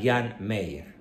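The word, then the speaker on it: Jean Meyer: muy asertivo muy valeroso se escribe hean Mayer con y se pronuncia Jan Meyer este señor escribió eh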